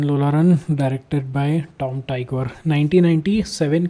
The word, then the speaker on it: Tykwer: तो आज की फिल्म है, इसका डायरेक्टर का स्पेलिंग का प्रोनाउंसिएशन बड़ा प्यारा है। टाइकवर, टाइकवर। टॉम टाइकवर।